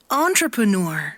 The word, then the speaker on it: entrepreneur: 아는 대로 먼저 좀 발음을 해보시면 좋을 것 같은데요. 이거 뭐예요? 좀 친숙한 단어죠, 이거는. entrepreneur이거든요. 엔트레프레네우르 이렇게 됩니다. 그 다음에 비세베르사 이렇게 네, 근데 이것들 발음이 어떻게 됐는지 그 다음에 또 뭡니까? 캐트라 이렇게 그 다음에 네 마에스트로 그 다음에 아바타 그리고 또 파파라치 이렇게 되는데 실제 원어민 발음은 어떤지 한번 들어볼게요.